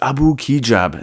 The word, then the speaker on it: Abu Kigab: And that is Abu Kigab. And that is actually how you pronounce his name.